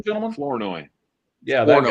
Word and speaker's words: Flournoy: I Laundry can't pronounce this guy's name. Help me. Who's 19? Fleury or something like that? How you say his name, gentlemen? Flournoy. Yeah, that guy. Flournoy.